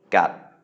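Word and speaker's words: กัด: So we have a mid-class consonant and then a stop final. So that's a dead syllable. So it is a low tone, gat.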